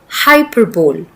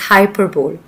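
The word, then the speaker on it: hyperbole: The next word is हाइपरबोल। We don't pronounce it एज़ हाइपरबोल।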